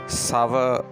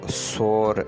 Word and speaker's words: sour: sour लफ्ज़ का मतलब है तुर्श या खट्टा। इसको सोर नहीं पढ़ना चाहिए, इसका सही तलफ़्फ़ुज़ है sour।